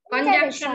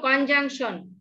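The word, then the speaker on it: conjunction: কনজাংশন না, বলো কনজাংশন, ওই সি এর উচ্চারণ হবে না, কনজাং, জয়াকার অনেশ্বর, জাং এভাবে উচ্চারণটা হবে, কনজাংশন। হ্যাঁ, তারপরে ইন্টারজেকশন।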